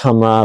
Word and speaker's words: Khamrah: It's pronounced Hamrah, I believe, but it's spelled Khamrah.